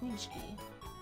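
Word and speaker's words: pączki: And it's pronounced like Punchki.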